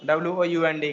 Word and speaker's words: wound: It's wound. It's wound. Okay. So do not pronounce it wound.